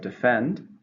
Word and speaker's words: defend: So then we have defend, which is the same meaning, but it's a verb. How many syllables in defend? 2, stresses on the second. Defend.